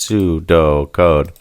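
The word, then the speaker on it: pseudocode: And next down here we see algorithms are usually written in pseudo code pronounced pseudo code because an algorithm is a higher level description of a solution.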